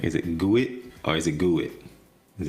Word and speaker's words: GUID: Chris says GUID. GUID. You don't like GUID? Rhymes with squid.